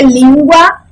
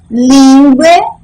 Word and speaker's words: língua: Língua, é língua, ou é lingue, ou é lingue? Qual dessas está correta? A correta é língua.